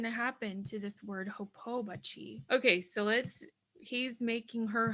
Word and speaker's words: hopobachi: So now our pronunciation is hopobachi, hopobachi.